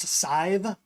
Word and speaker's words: Sive: His wife, it's pronounced Sive, S-I-V-E. I know it's a weird one. Think the word save. Or pronounce that just like it looks. Just like it looks. Sive.